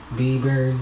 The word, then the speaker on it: Bieber: Bieber, yeah, I said it right.